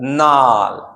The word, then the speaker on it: gnarl: यहां पे देखिए GNARL, तो इस जी का साउंड नहीं निकालना है, सीधा क्या पढ़ोगे आप, नाल।